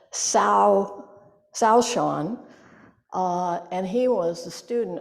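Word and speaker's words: Caoshan: Sozan, the teacher in this story, is also known as sorry, I have to pronounce it right, Shaoshan, and he was the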